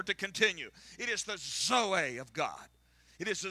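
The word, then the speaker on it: ζωή: the Bible, and that is the Greek word zoe. It's spelled Z-O-E.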